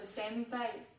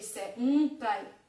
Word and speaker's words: senpai: Le son N. Donc, il se prononce pareil qu'en français, sauf devant P, B ou M, où dans ce cas-là, on prononcera comme un M. Par exemple, tous ceux qui ont vu Run High School, vous avez vu, ils disent tout le temps senpai. Si j'accentue, ça fait senpai.